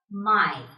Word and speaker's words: Mai: AI or EI will be pronounced as I. Here is an example. Das Ei. Das Ei means the egg. And here there is another example of AI. Der Mai.